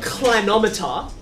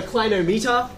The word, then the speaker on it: clinometer: i call it a clinometer uh i don't call it a clinometer because it comes from the same word where we get inclined right where something is